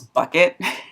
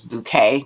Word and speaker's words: Bucket: character um last name their last name was bucket but because um the wife did not want to be called mrs bucket she would say that their name was bouquet but it was spelled like bucket that sent me every